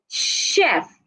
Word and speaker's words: chef: we have words like Chef the CH in this word c HF should be sounded like sh chef and the word word